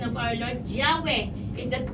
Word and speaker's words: Yahweh: because of what happened that is changes to Jehovah amen that is not the correct pronunciation of Our Lord Yahweh is the correct pronunciation why because the ancient